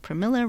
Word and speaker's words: Pramila: notice that unrepresentative jeyapaul's she did said that Pramila rhymes with vanilla so if you ever